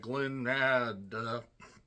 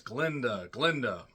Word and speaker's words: Glinda: And she didn't like the fact that he mispronounced the name and said Glinda. No, it's Glinda.